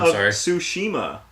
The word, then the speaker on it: Tsushima: goes above that yeah we can't impose that Tsushima Tsushima yeah believe it say you don't pronounce the to you yeah the Tsushima yeah